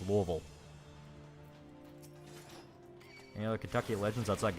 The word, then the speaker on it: Louisville: it says Louisville yeah we don't call it Louisville or Louisville anyone says well that's the correct pronunciation no we will beat your ass if you say that it's Louisville any other Kentucky Legends outside goblins uh there's